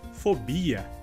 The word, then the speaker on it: fobia: Nossa próxima palavra seria em espanhol fobia e em português se diz fobia. A diferença então seria que em espanhol a sílaba mais forte seria a sílaba inicial, fó, e em português seria bi.